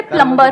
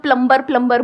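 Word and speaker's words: plumber: सर जैसे प्लम्बर, करते हैं। सब लोग प्लम्बर बोलते हैं हमारे देश में, बढ़िया है यार, क्या दिक्कत है? बी साइलेंट है उसमें। प्लम्बर ही तो होता है।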